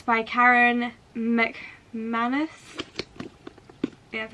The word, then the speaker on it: McManus: So it's by Karen McManus.